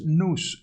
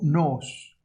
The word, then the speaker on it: nous: mente, la palabra ahí es nous, N-O-O-S, o nos, como lo quiera pronunciar.